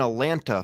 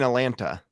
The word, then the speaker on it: Atlanta: It's nobody pronounces the second T.